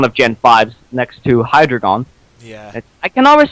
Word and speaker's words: Hydreigon: Hydreigon. Hydreigon, right? I always call it. You'll never get exactly called what I actually used to call Hydreigon. I used to call it hydrogen.